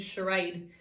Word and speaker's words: charade: are a d e the part we need to remember is the CH diagraph making this sound but also the AE split digraph can you teach it